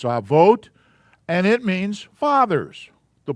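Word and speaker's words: אבות: And remember, the O is pronounced as an O, not in our English like an ot. That's not avat. It's avot, and it means fathers.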